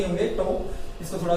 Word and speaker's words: tau: Torque का symbol, और इसे बोला जाता है टो। इसकी स्पेलिंग क्या होती है दोस्तों? इसकी स्पेलिंग होती है टो की TAU। तो वैसे तो इसको बोलने पे अगर इसको बोला जाए यहाँ पर TAU को, तो ये बन जाता ताऊ।